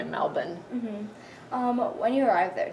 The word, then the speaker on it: Melbourne: lived in Melbourne Melbourne Americans say Melbourne but they say Melbourne um when you arrived